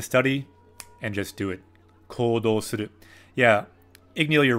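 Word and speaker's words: 行動: Yeah, Igneal, you're right, but there's actually a long U sound. Kodou suru. Kodou suru. So there's a long vowel sound with a U, a U, for both the ko and the do.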